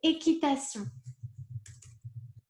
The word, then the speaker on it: équitation: We say équitation. Voilà. Équitation, so you would say je fais de l'équitation. Here again, okay, the sound is sion, de l'équitation.